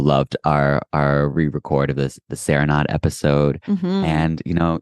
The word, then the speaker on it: Serenade: our first session on Serenade was just about, and you're still not pronouncing it the right way. Serenade. I know. It's good, just, you know. You gotta learn. Balanchine said Serenade, so can you.